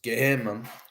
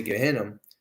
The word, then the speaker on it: Gehenna: In the Torah and in Kabbalah, it's referred to as Gehenna, okay, Gehenna, or Gehenna, depending on how you want to pronounce it.